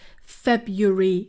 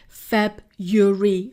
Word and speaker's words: February: the specific dates yes February February the first R is not pronounced Feb Yuri February February should my request